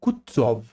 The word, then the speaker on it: Kutuzov: General Kutuzov, said Bolkonsky, speaking French and stressing the last syllable of the general's name like a Frenchman, has been pleased to take me as an aide-de-camp.